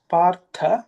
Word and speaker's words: पार्थ: The th partha is again Mahaprana.